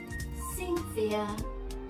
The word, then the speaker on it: Cynthia: But when we have C-Y-N, T-H-I-A, we pronounce it as Cynthia. Cynthia. So this C is S sound.